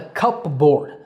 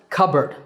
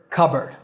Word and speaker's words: cupboard: things like clothes now this is not a cupboard I know it's spelled like that but it's pronounced cupboard C bird cupboard if you're more into British English you can